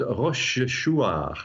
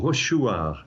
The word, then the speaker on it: Rochechouart: It's in a place called Rochechouart, or Rochechouart is probably the way the locals pronounce it, which is in central France.